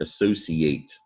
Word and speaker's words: associate: word associate all right the ci you need to know this ci can sound like all right you see it all the time you know the word special that ci sounds like special you may have mistakenly